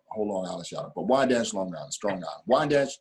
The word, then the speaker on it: Wyandanch: Wyandanch, Long Island.